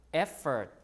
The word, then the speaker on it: effort: the stress is here effort the stress is is in the front right so there's a